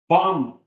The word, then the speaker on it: bomb: Knee, semo, tissue, bomb. We don't pronounce the final B.